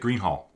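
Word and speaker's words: Greenhalgh: So yeah, don't pronounce the G-H on the end of the H-A-L.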